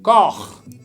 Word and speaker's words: corps: Aquí EU se pronuncia qué feo, pero como está con la L se pronuncia mejor. Seul. Seul. Qu'un seul corps.